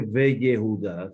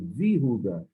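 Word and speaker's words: ויהודה: Yehudá, sabemos que la palabra Yehudá de la teoría no se dice y Yehudá, no se dice Ve Yehudá, se dice Vihudá.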